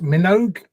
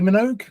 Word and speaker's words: Minogue: you lovely boys uh Tom I think that's pronounced Minogue Kylie Minogue Kylie Minogue really yes really and wow the